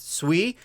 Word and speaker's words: Sui: I'm told that it's meant to be pronounced Sui.